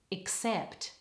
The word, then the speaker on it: except: end of the word all the stress is on the second syllable try it with me now except and the other consonant